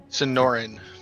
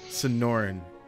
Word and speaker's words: Sonoran: How do you pronounce it again? Sonoran. Sonoran. I need to spell that out. Like the desert.